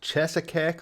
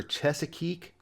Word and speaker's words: Cheesequake: You really want it to be pronounced the way it looks, but it's actually pronounced Chesapeake or Chesapeake.